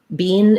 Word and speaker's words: been: Bean is a more British English pronunciation. Other dialects of English may use the tense E. We use the lax I sound.